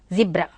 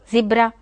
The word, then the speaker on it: zebra: Then another animal's name is written here, that is Z-E-B-R-A, zebra. We don't know that the Britishers pronounce as zebra, zebra. See the phonetic script over here, zebra. In US American English it is called as zebra, zebra. See, very interesting.